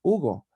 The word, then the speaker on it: Hugo: and I say, well, that's how you pronounce it in English, but my name is Hugo in Spanish, so I would prefer if you call me Hugo.